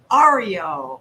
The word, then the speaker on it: Aryo: name so tell me that how do i pronounce your name ario i love that i think that your gift